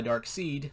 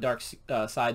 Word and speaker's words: Darkseid: which is uh darkseid i like to call this guy dark seed because his name is spelled s-e-i-d if you watch the new um justice league cut that just came out on hbo max you get to see what dark side looks like mr miracle number one